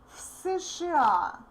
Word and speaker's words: в США: We say из США в США. Again, voiced v becomes voiceless f.